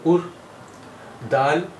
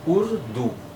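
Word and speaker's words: اردو: তো এর উচ্চারণ হলো উর। দাল ওয়াও উল্টা পেশ, এর উচ্চারণ হলো দু। এই শব্দটি উর্দু, উর্দু, উর্দু, উর্দু।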